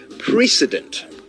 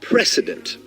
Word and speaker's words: precedent: Now, have you noticed how the word precedent is pronounced almost exactly like the word president? Now, I've also noticed how some people mispronounce it as precedent. Well, it's precedent.